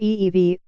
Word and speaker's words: Evey: he had in mind Mr FV pronounced ee-vie told the author's James